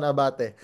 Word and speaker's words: Abate: Abate has gotten a lot. This season has gotten a lot. He pronounces it Abate now, right?